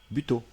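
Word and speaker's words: butô: Buto, spectacle issu de traditions japonaises réinterprété, caractérisé par la nudité des corps peints en blanc et des mouvements très lents. Ah, ça se prononce bito.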